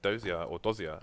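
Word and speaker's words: Dosia: No, sorry, Simple and Fix as stand-ins, as Kucha is elsewhere and Dozia, actually, as it's pronounced, has left the building.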